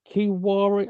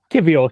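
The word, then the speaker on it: Kiwior: Trossard come in and Kiwari, I can't remember how to pronounce his name. You'll know this better than I would. Kivior. Kivior, thank you. I should have put that as a V, then I would know.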